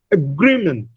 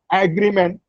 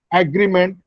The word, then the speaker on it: agreement: Agreement. Now, it is not agreement, which is the common Indian pronunciation. Agreement. No, it is agreement. Agreement. The second syllable, gree, receives a stress.